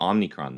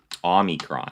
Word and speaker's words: omicron: does it say about omnicron though omicron that's it okay i've been saying it wrong this whole time so however the reclamation